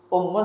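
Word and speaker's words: أمّ: Ummun sama amun beda ya. Ummun ibu. Ammun paman. Ini kan pakai hamzah dia. Dhammah lagi. Kalau paman ini ammun bacanya. Dia apa kalau dia apa enggak tahu kita bedanya mana. Ummun dhammah ibu artinya. Ammun fathah ain paman. Ini juga termasuk kalau dikasih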